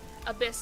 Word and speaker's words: Abyss: Abyss is how you pronounce it.